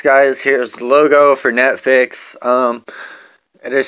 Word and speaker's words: Neffex: Here's the logo for Neffex. It is spelled N-E-F-F-E-X.